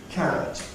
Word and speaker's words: carrot: Carrot, word stress on the first syllable.